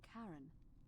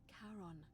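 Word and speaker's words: Charon: it's just as you described it only your pronunciation is a little off the name you heard wasn't Karen it was c h a r o n as in Kon the Fairman of the Dead Kon who in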